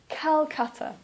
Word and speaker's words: Kolkata: please say Hanoi or for example Kolkata please don't say Kolkata please say Kolkata the reason that we